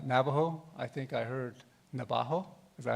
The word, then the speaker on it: Navajo: nation not uh Navajo I think I heard Navajo is that how you say it here yeah Navajo Nation um we're uh we're known as Nations